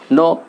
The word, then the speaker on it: know: শুরুতেই কে, কে সাইলেন্ট হয়ে যাচ্ছে। এই যে কে এখানে সাইলেন্ট মানে কি? নো উচ্চারণ হয়েছে, কয়ের কোনো সাউন্ড আসেনি।